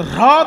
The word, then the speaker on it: হ্রদ: কিন্তু হ্রদ উচ্চারণটা সবসময় হয় না, হয় রফলা দ, হ্রদ তো।